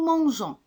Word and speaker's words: mangeons: Exemple, nous mangeons.